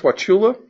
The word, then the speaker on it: Wauchula: be eleven characters counties that's pronounced Wauchula that what color which is w al